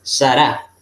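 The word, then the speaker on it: שָׂרָה: va a centrar más fuerte por eso se pronuncia sara y la ley es muda generalmente este siempre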